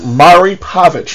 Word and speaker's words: Maury Povich: I mispronounced it both ways. It's actually Maury Povich.